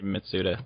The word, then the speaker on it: Mitsuda: like y Yi mitsuda let's see i' say mitsuda but what's oh Yori mitsuda mitsuda yeah I